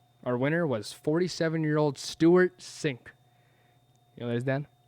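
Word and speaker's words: Cink: Sink.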